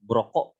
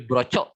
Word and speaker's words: Broco: Jadi misalnya saklar tunggal, speknya brokok ya. Jadi Iqbal tadi mungkin hasil searching di Tokopedia ataupun di Shopee, bacanya bukan brokok tapi brocok ya. Itu kurang tepat. Jadi bacanya brokok ya.